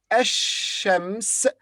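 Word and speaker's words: الشمس: the lamb is pronounced but in the word ashems the lamb is silent the next word iraq and arabic would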